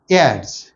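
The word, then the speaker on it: heirs: एड्स, ought द आपण हेअर असं करतो, बट you should pronounce like एड्स. एच is silent हिअर.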